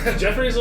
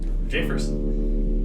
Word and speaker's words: Jeffress: with me a moment jefferson was it uh j first this one rhymes with jeffers you uh need anything